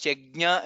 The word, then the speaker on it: यज्ञ: there is many times yajna is repeated. Please pronounce it correctly. Yajna, that's how it is pronounced.